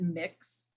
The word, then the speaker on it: Mx: is an option uh that's mx and you pronounce it mix um so just in